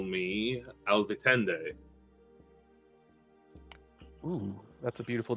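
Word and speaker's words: Alvitinde: pleasure to meet you you may call me Al vitende oh that's a beautiful name can you spell it um a-l-v-i -t-i-n-d-e um some new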